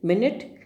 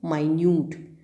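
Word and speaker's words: minute: मिनट, माइन्यूट, spelling same है दोनों conditions में, मिनट, लेकिन प्रोनाउंसिएशन क्या है? एक है मिनट जो समय बताता है, 5 मिनट्स, 10 मिनट्स, एंड the second one इज माइन्यूट।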